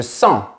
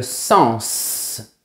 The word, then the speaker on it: sens: En fait, s'il s'agit du verbe sentir, oui, il faut dire je sens. On ne prononce pas la lettre S. Mais si nous parlons du nom, nous dirons le sens, c'est-à-dire la signification.